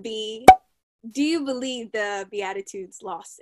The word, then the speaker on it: Beatitudes: Beatitudes, Sarah?